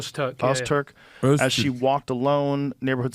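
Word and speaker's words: Öztürk: Ozturk? Ozturk.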